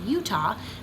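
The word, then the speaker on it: Eutaw: So my church has been going to Alabama for 4 years now, and there is a place in Alabama called Utah, which is spelled E-U-T-A-W.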